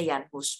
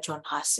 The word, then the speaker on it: Jan Hus: Gerakan Proto-Reformation, pertama Waldensian Reformation, terus John Wycliffe yang nulis Alkitab, yang menerjemahkan Alkitab, terus Jan Hus, bacanya Jan Hus, bukan John Huss ya, Jan Hus.